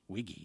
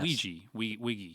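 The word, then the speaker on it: Weege: it different ways but he said a Reinhold wiki wiki Wiggy not Ouija yeah we we Reinhold Wiggy okay yes so that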